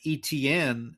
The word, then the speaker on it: Etienne: saw his last name, I kind of presumed that's how you say it. But then the commentators kept saying Etienne, and I'm like, oh well, he must not be from Louisiana.